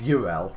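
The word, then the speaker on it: Yrel: And it's Ural. I keep pronouncing her name wrong, but I just did that bit on my other character, so it's Ural.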